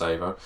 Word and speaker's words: Evo: It is pronounced Evo.